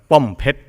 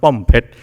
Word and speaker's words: Pombejra: Pompet. It's spelled Pombejra, but it's pronounced Pompet.